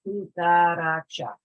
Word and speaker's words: cucaracha: Normally, accents are placed, or the emphasis is placed on the second to last syllable. So we got cucaracha, cucaracha. This is the second to last syllable here, right?